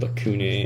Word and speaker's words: lacunae: lacunae as a cavity so both having a hard c sound lacunae and a cavity the osteoblasts are what